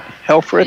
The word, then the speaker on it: Helfrich: as does helfrich how do you how much you pronounce it hell for it yeah Helfrich April free throw got